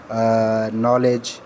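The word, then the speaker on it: knowledge: Rule number second ये है कि व्हेन एन कम्स आफ्टर के, द लेटर के वुड बी साइलेंट। जब भी के द लेटर जो हमारा के उसके बाद एन आएगा तो के हम नहीं पढ़ेंगे, जैसे नॉलेज, नोट एट्सेट्रा।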